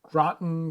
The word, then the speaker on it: Groton: It's launched from Groton, Connecticut. Is that how you say that? Groton or Groton? Groton? I think Groton sounds about right. Groton sounds like rotten.